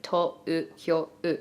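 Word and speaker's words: 東京: They have an elongated O sound. But because of that, Tōkyō also has the little lines above it because it's like Tōkyō.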